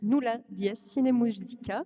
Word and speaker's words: Nulla Dies Sine Musica: au risque de d'écorcher le nom de ta formation musicale, je vais te laisser la prononcer toi-même. Alors, mon ensemble de musique ancienne s'appelle Nulla Dies Sine Musica.